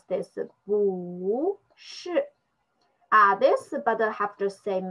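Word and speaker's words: 不是: We just pronounce this bu shi.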